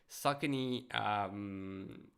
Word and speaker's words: Saucony: Now I know how to pronounce it. Saucony Endorphin line.